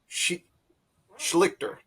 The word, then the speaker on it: Schlichter: Then in the middle, of course, is Ash, and way on our right is William Schlichter.